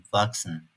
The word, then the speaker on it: wachsen: Çok fazla olmasa da "ch" sesinden sonra "s" harfi gelebiliyor. Bu tür durumlarda "k" gibi okunabiliyor. Örneğin "wachsen, Erwachsene" Almancada "-ig" ile biten çok fazla sözcük var.